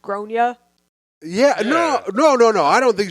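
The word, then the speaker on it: Gráinne: Do you think she was wrong for telling her in front of her kid that her name was pronounced Gronya?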